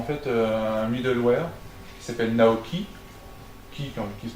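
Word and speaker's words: NAOqi: Et Aldebaran a mis en place en fait un middleware qui s'appelle Naoki, qui se prononce pas qui d'ailleurs, qui se prononce chi, qui veut dire l'âme normalement.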